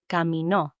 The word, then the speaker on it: caminó: But then you can also say caminó, caminó, with accent on the O.